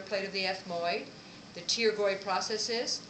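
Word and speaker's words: pterygoid: of the ethmoid the taroy processes the p is silent taroy right here the p is silent it means Wings taroy then you have ferum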